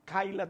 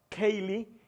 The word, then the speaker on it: Kaylee: de mis hermanos, por Kayla también su cumpleaños. Quiero, Kaylee, ¿verdad? Quiero orar por ella para que el Señor la bendiga. Al principio quizás no pronuncié bien su nombre, es Kaylee.